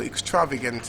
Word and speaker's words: extravagant: first syllable, then primary stress on the third syllable. Population. Oh, sorry, I missed a word, extravagant. So extravagant is extravagant.